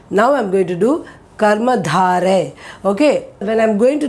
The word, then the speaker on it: कर्मधारय: So I'm saying this one as Karma Dhare. Dhare.